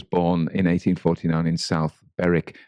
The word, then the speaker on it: Berwick: in 1849 in south beric now we would say beric because it's spelt b-e-r-w-i-c-k so there is one just on